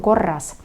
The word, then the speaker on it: korras: Я как бы удваиваю две буковки R, да, услышали? Kõik on korras.